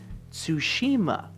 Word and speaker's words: Tsushima: forget everything again just to sit here and pronounce it tsushima this is also the reason i don't say